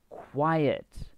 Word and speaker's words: quiet: at this um now quiet this one here has two syllables and this one has one syllable okay listen to the pronunciation this one here quite and quiet quiet there's two quite